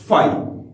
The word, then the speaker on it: phi: तो एक ये इसकी नोटेशन हो गई, और एक बहुत यूनिक और अलग सिंबल है हमारे पास, फाई। इसको बोलते हैं फाई, PHI, ये इसके स्पेलिंग्स हैं।